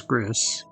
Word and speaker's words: Gris: team was called, well, I thought was Gris, which is why I used a Chris Griffin PNG tuber for that stream called Chris Griffin. Uh, but it might be pronounced Gree, I'm not sure.